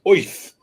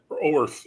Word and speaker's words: Oerth: And he cannot get past the fact that he wants to pronounce Oerth as Oith. It's like, and I know they said that, but they also have said that Oerth is also an acceptable pronunciation.